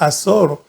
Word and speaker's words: Hazor: cual reinó en Azor, siempre ando pronunciando la H, entonces, pero es Azor.